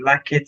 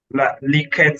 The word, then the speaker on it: Likert: I think they pronounce that as is it yes, something like this. Likert scale. Yeah, Likert scale.